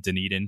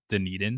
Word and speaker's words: Dunedin: Blue Jays lineup, even if they're playing in Dunedin. And yes, that is how you say Dunedin.